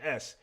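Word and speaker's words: éS: I remember S and I used to think it was ES, but I think it's pronounced S.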